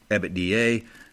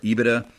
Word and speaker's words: EBITDA: EBITDA or EBITDA, sometimes it's pronounced a couple of different ways, but this stands for your earnings before interest, taxes, depreciation, and amortization.